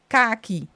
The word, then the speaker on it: khaki: said car key, because in the Dutch language we say khaki, our A is harder.